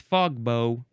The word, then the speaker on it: fogbow: It's like a like a bow and arrow kind of. That's how the bow is spelled, but it's fog bow.